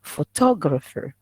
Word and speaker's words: photographer: We have four syllables. We have photographer. Okay, here four syllables, and the stress is on the second one.